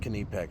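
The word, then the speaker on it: Knipex: So, bringing out the Nipex. And I know it's pronounced Kipex. Shut up. I'm American.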